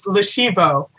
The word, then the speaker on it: Lashivo: It's Lashivo. It's with the long E.